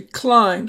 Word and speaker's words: climb: First, we have the word climb. Notice you don't say climb, you just say climb, so the B is silent.